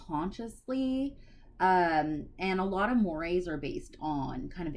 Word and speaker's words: mores: I know it looks like Moors, and sometimes people pronounce them incorrectly, but it's technically mores.